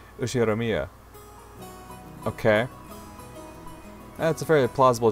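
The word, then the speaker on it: 右代宮: can't the first part is my family name ushiromiya okay that's a very plausible japanese pronunciation so far the problem is my given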